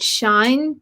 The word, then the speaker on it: Shein: I think I bought that from an online store called Shine, but it's spelled SHEIN.